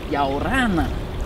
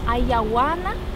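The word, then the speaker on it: Ia ora na: Yaorana. Ayawana? No. Yaorana. Yaorana? Yeah, you get it!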